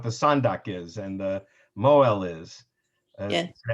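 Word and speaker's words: mohel: And so you'll know what it is, and you'll know what the sandak is, and the moel is. Yeah. Sometimes pronounced moel in Ashkenazic Yiddish.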